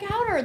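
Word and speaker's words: Hauter: So I called up my sister and I said, Greg, and she said, Greg Howder, the tall one.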